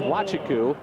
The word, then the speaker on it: Nwachukwu: That's easy, but his last name is Wachiku, and it's spelled Nwachukwu.